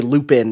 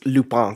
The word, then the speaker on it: Lupin: What's the English versus the original French, right? Like, we would say Lupin in English, but it's Lupin, because it's Lupin Arsène in French.